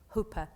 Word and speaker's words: Hope: The hopes may have descended from the Scottish branch of the family, but they were resolutely Dutch. And the name was actually pronounced Ho-pa not Hope.